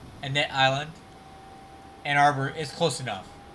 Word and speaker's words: Annette Island: Annette Island.